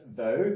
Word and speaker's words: though: In the words though, the GH is silent.